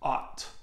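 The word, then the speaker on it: aught: last zero is pronounced ah'd so kind of like man he ought not be doing that yeah you guys smash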